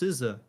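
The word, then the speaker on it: SZA: seen several of these ads actually and it's pronounced siza apologies apologies I am not unfamiliar with siza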